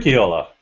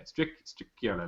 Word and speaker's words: Stricchiola: I couldn't even pronounce Jesse's surname. Stricchiola. There you go, Stricchiola.